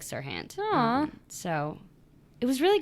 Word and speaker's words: Serhant: I made Molly look up how to say his name because I never know if it's Haunt or Hant. What is it? Serhant. Serhant.